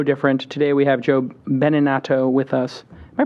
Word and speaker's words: Beninato: will be no different today we have Joe beninato with us am I pronouncing that right yeah beninato benato what is that Italian beninato that means